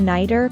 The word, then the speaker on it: nighter: As the sound in a nighter is between two vowels, it's usually pronounced as the fast sound in the American accent.